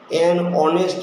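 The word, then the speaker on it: honest: হবে ও থেকে আওয়ার এজন্য এটা ভালের মত উচ্চারণ আবার দেখান অনেস্ট ম্যান ও থেকে উচ্চারণ হছে অনেস্ট না আবার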